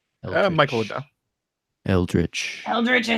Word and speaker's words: eldritch: like an elder at an elder at or aldrick am I saying it right Michael yeah eldritch eldritch I said I read the first time